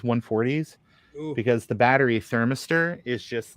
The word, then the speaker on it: thermistor: thermistor. What? You're putting the improper emphasis on the wrong syllable. Well, no. What are you talking about? Thermistor. Thermistor, not thermistor.